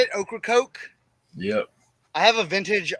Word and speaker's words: Ocracoke: Ocracoke?